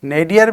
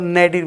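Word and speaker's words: nadir: नेडियर भी सही है और नेडिर भी सही है।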